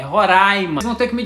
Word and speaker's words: Roraima: o nome desse estado não é Roraima é Roraima vocês vão ter que